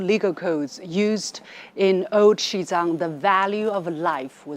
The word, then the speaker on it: Xizang: known abroad as Tibet shizang is the pronunciation of the Chinese name of the region almost exactly 72 years ago on May the 23rd 1951.